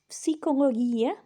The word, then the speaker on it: psychologia: Number 3 is psychologia, psychology. And again, in modern Greek, the G is more like a Y sound. In ancient Greek, it's a hard G sound.